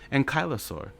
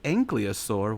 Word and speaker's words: ankylosaur: i said it so i was like ankylosaur what so now i'm like and kylosaur okay that's how you say it oh you make me